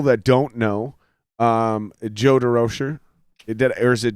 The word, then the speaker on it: De Rocher: it that is actually oh french pronunciation yeah some somewhere in the line it got changed to the american version or derozan you know and how